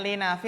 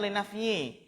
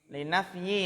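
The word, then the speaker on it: للنفي: Ini bacanya linafi atau linafyi? Linafyi ya, nafyun.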